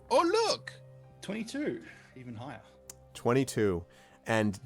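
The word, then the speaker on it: Oollok: right here we go it's pronounced oh look 22 even higher 22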